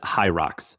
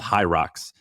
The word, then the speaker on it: Hyrox: but Google Hi- I I think you pronounce it Hyrox.